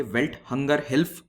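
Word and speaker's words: Welthungerhilfe: Belt hunger हिल्फ, life नहीं है ये, हिल्फ है।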